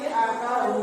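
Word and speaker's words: أبتر: mantul apa di sini di sini huruf ba h abtar enggak boleh H abtar enggak boleh harus bacanya jelas inaka abtar abtar harus ada pantulannya begitu ya kalian harus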